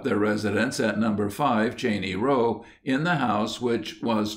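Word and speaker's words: Cheyne Row: following is an extract we are called a Cheney row properly pronounced Cheney row and are a gential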